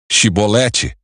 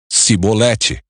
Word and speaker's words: chibolete: o homem negasse eles o mandavam dizer chibolete se ele era de Efraim dizia sibolete pois o povo de Efraim não consegue pronunciar essa palavra corretamente então eles o capturavam